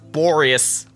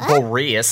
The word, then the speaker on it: Boreas: entrance to wolvendom yeah it's pronounced boreous not beaureus there he goes what